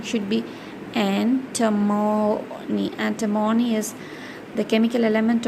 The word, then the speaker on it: antimony: Antimony, it is anti-money, but the pronunciation should be antimony.